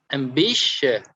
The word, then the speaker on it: ambitious: of each word okay and this column we are going to stress on the middle of each um word yes of each word for example ambitious ambitious so if we stress